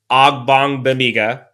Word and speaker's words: Ogbongbemiga: So after that, I think you look at Cole Christensen, Amon Ogbongbemiga, I said it right finally, Damon Lloyd, and Andrew Brown.